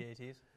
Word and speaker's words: AT-AT: And these AT-ATs or AT-ATs, whatever you want to call them, AT-ATs. whatever. It's spelled like 2 words, so it sounds like 2 words.